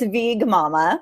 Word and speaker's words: VeegMama: hi thanks for having me my brand is VG Mumma you goodbye be short for vegan vegan but